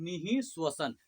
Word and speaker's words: निःश्वसन: ये विसर्ग बिंदु थोड़ा ह का उच्चारण होता है, ठीक है। क्या होता है, निःश्वसन, ठीक है।